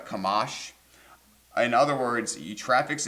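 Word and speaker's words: חָמָס: It's pronounced kamash.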